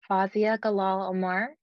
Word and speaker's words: Fawzia Galaal Omar: Fazia Galal Omar. Perfectly. Oh, shit. She pronounced my big African name perfectly.